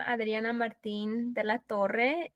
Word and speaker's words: Adriana Martin de la Torre: I'm Adriana Martin de la Torre, and I'm pronouncing it this way because this is the proper way to pronounce my name, but in America they pronounce it differently.